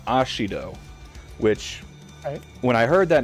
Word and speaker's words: Ashiro: Mina thank you uh last name ashiro but because of the way the Japanese pronounce their uh their RS it sounded like he said like the the news reporter was saying Mina ashido which when I heard